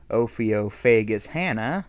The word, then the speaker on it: Ophiophagus hannah: cobra the king cobra ophiophagus hannah i'm pretty sure that's how it's pronounced it's a reptile head's